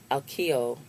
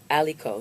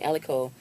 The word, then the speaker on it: Aliko: be with a billion dollars we have Mr Akio oh aliko excuse me aliko denote 11.2 you got Mike adenuga excuse me